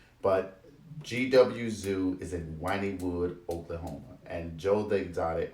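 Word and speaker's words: Wynnewood: always thought it was mine but these people pronounce it in Oklahoma as wining wood so I don't know if the kinds of area one is the same as this one but GW Zoo is it whining wood Oklahoma and Joel the exotic owns that he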